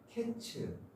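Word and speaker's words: קץ: 그러니까 히브리어로 여름과일은 카이츠라는 단어예요. 그리고 끝이라는 말은 케츠, 자음이 같고 발음이 유사해요.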